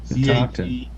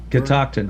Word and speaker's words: Catoctin: Catoctin. CATO. Catoctin. Yeah, there you go. Thank you. How's that Yeah. pronounced? Catoctin.